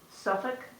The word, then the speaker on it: Suffolk: It takes place in Suffolk, is that how you say it?